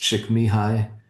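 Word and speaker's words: Csikszentmihalyi: the name is really hard to spell, but it's pronounced Chickmyhai.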